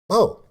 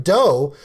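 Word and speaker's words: BOH: Bo. And I actually said Bo's name wrong, and I called him Doe for almost a month, and they made fun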